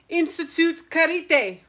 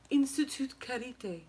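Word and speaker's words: Institut Karité: home goods remember that institut karite oh i'm saying it wrong because it's institut carite paris i'm gonna say it like that instead i was saying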